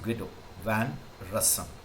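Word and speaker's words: Guido van Rossum: invented python and when the python invented by ghetto van rasam okay we do how you pre pronunciation is up to you because it's a proper noun but normally it is called as guido van rassam so he developed python in late 80s and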